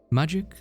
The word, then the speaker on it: Majik: It's magic. But uh you know the common people say it's magic. It's more interesting that way they say.